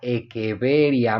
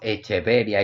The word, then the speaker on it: Echeveria: Atanasio, Echeverría y Goboy, pero el nombre científico se debería de pronunciar eeveria. Muchas veces nosotros hicimos echeveria y yo soy uno